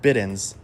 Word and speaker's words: Bidens: Um now, don't get political on me, but this plant is called Bidens or some people pronounce it biddens, b i d e n s.